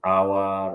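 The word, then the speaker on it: hour: যাই হোক, তো ফ্রেঞ্চ ভাষায় বাইক শব্দের প্রথমে এইচ থাকলে উচ্চারিত হয় না। এই শব্দগুলো যেমন আওয়ার, অনেস্ট, অনারেবল, এই শব্দগুলো সরাসরি ফ্রেঞ্চ ভাষা থেকে ইংরেজিতে এসেছে।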